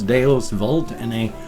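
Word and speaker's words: Deus Vult: And for those of you that use Deus Volt or Volt, since it's like Latin and the V is pronounced as a W, then thumbs up for that.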